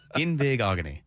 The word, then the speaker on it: Igbinoghene: Igbinoghene. Igbinoghene. Igbig- Igbig- oghene. That's a fun segment. Don't start having me pronounce oghene. Yes. Igbinoghene. Igbinoghene. Yes. Igbinoghene.